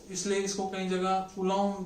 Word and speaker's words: Coulomb: इसलिए इसको कई जगह कूलम भी बोला जाता है। इट्स नॉट कूलम, French pronunciation में इसे चार्ल्स कूलम, नॉट बी का साउंड नहीं आता है।